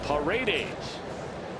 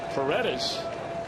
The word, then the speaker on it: Paredes: native tongue of Espanol, his name, as we pronounced it last night, is Paredes. But he had asked, apparently, that it is pronounced Paredes, and so we certainly will grant him that wish.